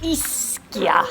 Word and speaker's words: Ischia: And the way you pronounce the island is Ischia, apparently.